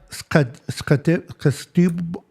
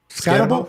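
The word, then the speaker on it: Skattebo: Cam Scatebo. How do you pronounce that? Deebo. Scatabo.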